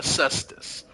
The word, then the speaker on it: cestus: I know how it's spelled, but it's a cestus.